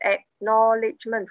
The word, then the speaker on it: acknowledgement: we what is the the long look at acknowledgement four syllable with the m n t because you you turn